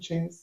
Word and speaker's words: Chxnze: She was like, but they'll be like, isn't Chance Chance? I'm like, yeah, but don't worry about that.